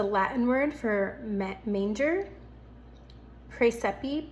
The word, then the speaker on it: Praesepe: Praesepe p r a e s e p e if I'm pronouncing that correctly.